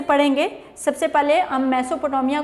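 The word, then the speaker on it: Mesopotamia: तो प्रोनाउंस दो तरह से भी करते हैं, कुछ लोग इसको मेसो, कुछ लोग इसको मीसो, तो दो तरह से इसको पढ़ते हैं।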